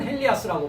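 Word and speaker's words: Ἠλίας: 자, 헬리아스 헬라어로는 헬리아스라고 발음을 하고 히브리어로는 엘리야라고 합니다.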